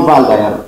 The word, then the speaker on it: Waldeyer: Henrik von Waldeyer is a German. Okay, that's why the W is pronounced as V. But in American, if you like, they still call him Waldeyer.